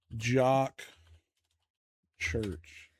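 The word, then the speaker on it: Jok Church: Okay, now I got to know how to pronounce his name. Here you go. All right. Look it up. Jock Church, but it was also the first syndicated Oh, man.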